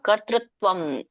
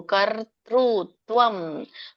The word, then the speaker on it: ಕರ್ತೃತ್ವಂ: ಒಂದು ಉಚ್ಚಾರಣೆ ತಿಳ್ಕೊಳ್ಳೋಣ ನ ಕರ್ತೃತ್ವಂ ಕರ್ತರು ತಕ್ಕೆ ವಟ್ರಸುಳಿ ಇದೆ ಕೆಳಗಡೆ ಋ ಹೇಳಬೇಕು ಋಷಿರು ಆಮೇಲೆ ಅರಕಾವಳಿ ಇದೆ ರ ಮೊದಲು ಹೇಳಬೇಕು ಕರ್ತೃತ್ವಂ ಕರ್ತೃತ್ವಂ ತಕ್ಕೆ ಭವತ್ತು ಅನುಸ್ವಾರ ಕರ್ತೃತ್ವಂ ನ ಕರ್ಮಾಣಿ ಲೋಕಸ್ಯ ಸೃಜತಿ